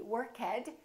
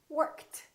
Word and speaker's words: worked: a voiceless sound so the past tense of work is not going to be work head it's going to be worked worked let's practice a few more